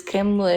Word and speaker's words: Kamala: So what I heard is Kamala Harris. It's Kamala Harris. Okay, whatever her name is. It's not whatever her name is. You're gonna say Kamala Harris. You going out of your way to not pronounce her name right is even weirder.